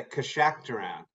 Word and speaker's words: Keshakhtaran: And I'm going to have you pronounce that. Yeah, Keshakhtaran.